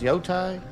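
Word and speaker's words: Yōtei: north to disappear Mount y thaai how's that pronounced yoai but you y oh that's a vicious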